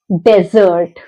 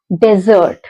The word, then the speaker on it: desert: I'll explain you both the meaning and the pronunciation let's see this is desert desert registan desert desert is an area which is